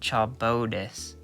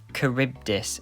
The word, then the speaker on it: Charybdis: into either Scylla or Silla, I think it's pronounced, and Charybdis. I don't think that's how you pronounce it. Hang on a sec. Charybdis is how you actually pronounce it.